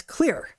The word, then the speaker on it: Xlear: That's Xlear, pronounced clear.